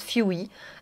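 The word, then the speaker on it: Fwee: Alors c'est la marque Fewy, enfin, je pense que ça se prononce Fewy, FW avec 2 E.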